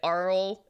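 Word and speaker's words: Auril: winter of winter yes aura aura oral that i like saying oral um but arl is uh technically the the correct way to pronounce it in the book so aura like um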